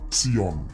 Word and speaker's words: Zion: Zion adalah pengucapan dalam bahasa Inggris. Dalam bahasa Latin akan disebut Sion. Dalam bahasa Ibraninya adalah Sion.